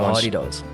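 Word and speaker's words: hadeda: Yeah, the hardy-daws. How's it pronounced again?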